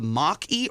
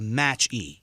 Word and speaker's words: Mach-E: It's either the Mach-E or the Match-E. Mach. Is it Mach-E? Is it Mach-E. It was a Mach 1. Yeah, that they turned into okay. it. Yeah. So Mach-E.